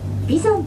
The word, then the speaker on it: 眉山: いる山は眉の山と書いて眉山と呼ばれているんで